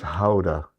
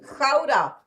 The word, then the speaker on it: Gouda: And he says Gouda. That's not how you pronounce that, Jack. It's Gouda.